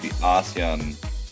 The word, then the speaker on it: ASEAN: and organizations and they the way they pronounce it is ASEAN ASAN.